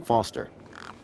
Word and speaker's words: Foster: pickle so does I'm Foster I'll remember that easy because your name rhymes with fossil and you're old thanks kid what's wrong with the roundabout it sucks stupid mr.